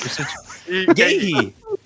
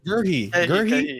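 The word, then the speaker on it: Guéhi: Gahey. Gahey. His name is Gurhey. Gahey. It's Gurhey. That's different from Gahey, bro.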